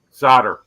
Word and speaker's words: solder: I say L is silent. solder.